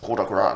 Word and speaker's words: coup de grâce: Coup de gras. Non, c'est coup de gras.